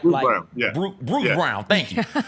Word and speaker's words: Brown: Bruce Brown.